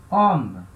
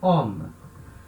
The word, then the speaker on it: homme: O homem seria le homme. Só que, nesse caso, de novo, o H é um H mudo, né? H muet, H mudo.